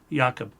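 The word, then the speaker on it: יעקב: So what we see here is Yakob. YaKob. YaKob is how it's pronounced, which is Jacob.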